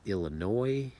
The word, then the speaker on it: Illinois: IL is Illinois. You do not pronounce the S.